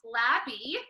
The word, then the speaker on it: Labby: All that he told me to say was that it's pronounced Labby, which now I know because I've never said it correctly.